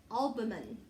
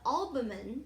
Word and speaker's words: albumen: food from the yellow yolk or alban i always mispronounce that word the albumen is the clear liquid